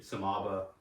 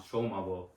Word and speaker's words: Shomabo: Yeah, so in high school everyone called me Samaba. Americans doing their best they could to pronounce Shomabo.